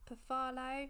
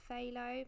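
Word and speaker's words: Phthalo: Looks like it's called Perfalo, not Phalo.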